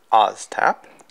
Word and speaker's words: ASTAP: okay first off let's open oztap it's kind of pronounced the z in this in the name all the step so